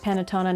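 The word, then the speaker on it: Panettone: Day 16 is Panatona. the cake uh pronounced Panatona, not the the paint company pronounced panone that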